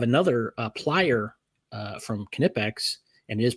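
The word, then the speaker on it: Knipex: But I have another uh plier uh from Kipex and it is pronounced Kipex by the way.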